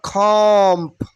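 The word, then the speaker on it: comb: ভেস্টেবলস ভেস্টেইবলস means শাকসবজি নট খম্ম B will be silent hair খম খম খম C will be প্রোনাউন্সেস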